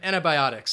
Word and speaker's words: antibiotics: antibiotics so it him antibiotics so that stresses on that bi antibiotics all right antibiotics